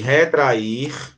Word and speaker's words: retrai: Quando eu falo retrai, a mais forte é trai.